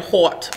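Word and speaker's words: haute: hot all right and i'm saying hot because that's how it's spelt h-a-u-t-e okay and somebody over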